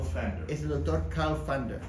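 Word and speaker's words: Pfander: You Fander. pronounce it Fander, yeah. Fander. But it's the German. Carl, Carl Fander.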